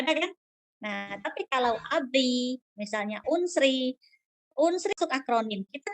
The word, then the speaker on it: ABRI: Tapi kalau akronim kita bacanya seperti kata. Contohnya ABRI.